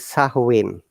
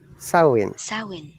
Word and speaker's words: Samhain: celtic celtic festival of samhain okay here well another trick the what i have underlined it because the am is silent it is a gaelic word it is sahuwin sarwin very good saowin when people could light